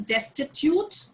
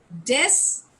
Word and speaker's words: destitute: Okay, the pronunciation is destitute. Destitute. I will repeat. Destitute. Destitute. जैसे institute होता है वैसे ही.